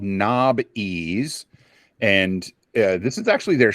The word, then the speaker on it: Knobbeez: Well, the original spelling was Nob-Ease. Knob. And everyone pronounced it Nobies.